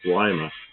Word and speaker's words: Lima: thought I was crazy because it's Lima. You know, Lima, Lima, like a lima bean. I went, oh yeah, I guess so. Because I grew up in California where everything was Spanish pronunciation, so I always assumed it was Lima. But I guess it's a lima.